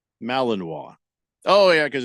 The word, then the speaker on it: Malinois: is congratulations just yeah Aver Joe says it's pronounced Malinois Malinois oh yeah because it's a French it's a